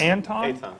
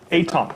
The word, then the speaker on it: Aton: Is it Anton? Aton. Aton, sorry.